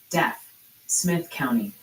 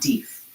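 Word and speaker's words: Deaf Smith County: The chat jury has reconvened and they're pretty adamant it's pronounced death Smith County like hearing loss, not deaf.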